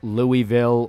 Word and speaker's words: Louisville: Uh, she w she was Louisville, which you pronounce it Louisville. Anyone says Louisville or Lewisville, you're a goddamn fraud.